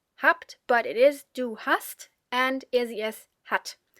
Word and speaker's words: hast: Maybe, if you are very attentive, you may have noticed that although there is a single s after the a in hast, it is pronounced sharp, as if there were two s, or sharp s.